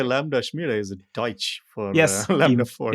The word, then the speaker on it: Lambda Schmiede: How do you pronounce the company, Tim? It's like Lambda Schmiede? Yeah, Lambda Schmiede.